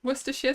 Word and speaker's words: Worcestershire: But it's not hard to say. It's just Worcester. Right. Maybe Worcester. Share. Sauce.